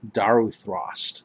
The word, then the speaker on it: Daruthrost: We've got Daruthrost ahead of you. That's how it's pronounced, Daruthrost.